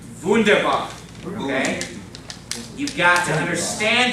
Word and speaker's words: Wunderbar: You gotta pronounce that W correctly. Wunderbar.